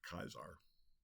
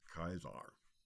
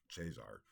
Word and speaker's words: Caesar: or in Latin ulius kaisar because in classical Latin the C is pronounced as a hard C or like a k AE is an I